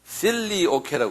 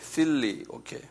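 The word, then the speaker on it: Filioque: 필리오케라고 그래요. 필리오케. 이건 조금 유식한 말인데 이거 적어놓으세요. 필리오케. 한번 발음해 보실래요? 필리오케.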